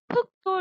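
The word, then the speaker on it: 흙: 닭뿐만이 아니라 제가 여러분에게 많이 말씀드렸던 흑도 리을 기억 발음이죠. 흑. 리을 기억 발음인데 기억만 나잖아.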